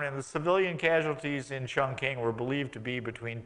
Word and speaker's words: Chongqing: And then, of course, Chongqing, which is the American pronunciation of that word, which is not Chongqing.